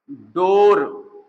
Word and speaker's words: डोर: ड़ा, देखो ड ढ, जैसे हम कहें डोर, या हम कहें ढोलक, कभी कभी उच्चारण करने में लोगों को दिक्कत होती है, तो ये जो है ढोलक, ढ है, और ये ढोलक, और ये है डोर, लेकिन यहीं पर हम लिख